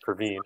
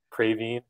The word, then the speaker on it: Praveen: all my life uh everything from instead of praveen which is my name everything from craving for my first name to which is